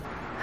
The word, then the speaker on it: 牛丼: これは、ぎゅうどんと読みます。 It's called "Gyudon".